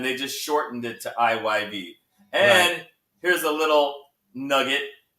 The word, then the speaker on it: IYV: IYV. You have to say the Y. You can't just say Ivy, huh?